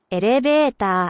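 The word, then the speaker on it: エレベーター: Elevator.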